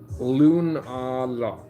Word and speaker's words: Lunala: How's this pronounced? Lunala. Yeah, Lunala. Yeah, that one.